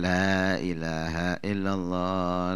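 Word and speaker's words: لا إله إلا الله: nu teu Aya nih bener bacanya Lailahaillallah Lailahaillallah itu malah ada hadits yang diperintahkan untuk memanjangkan lainnya Lailahaillallah ada mengatakan pendekkan Ade mengatakan pendekan Abangnya panjangkan dan memiliki keduanya memiliki alasan dan keutamaan walhasil Kalaupun kita enggak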